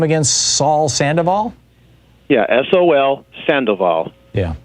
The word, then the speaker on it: Sol: Sol Sandoval? Yeah, S-O-L Sandoval. Yeah. Okay. Sol Sandoval. Sol is how we'd pronounce it.